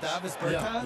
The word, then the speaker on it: Davis Bertans: Oh, now, at this point in my life, it's Davis Bertans. Is that how you say his name? Yeah, yeah, yeah. Huh? Davis Bertans. Davis Bertans?